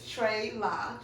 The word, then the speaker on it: TreLa: Some people say TreLa. They don't get it right, but it's TreLa. TreLa.